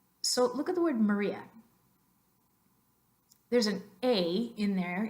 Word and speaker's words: Maria: in Spanish ah but do you hear me pronounce the sound ah at all when I say Maria Maria no both of those A's in English are pronounced ah which is the schwa upside down E Maria great in English Pennsylvania no